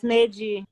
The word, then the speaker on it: Neji: So we've got is it Neji? Is that how you pronounce it? On the line as well? Yes, Neji. Neji, great.